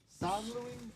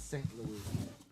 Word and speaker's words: St. Louis: Louis San Louie. I think it's St. Louis. Sometimes with those French names, they have a different pronunciation, but Martin St.